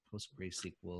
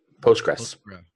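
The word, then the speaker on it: PostgreSQL: mysql host great I never know how to pronounce it post bracele post-grad Postgres yeah so those types of environments within a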